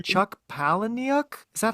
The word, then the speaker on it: Palahniuk: say his name, Chuck Palahniuk? Is that how you say it, OT? I looked it up. It's Palahniuk. Palahniuk. Oh, okay, easy. All right, I'm adding more syllables.